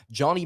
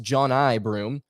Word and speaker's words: Broome: have been told that his name is actually pronounced john i broome uh or jonah if i if i'm not mistaken uh so i'm going to try and refrain from calling him uh johnny i'm going to do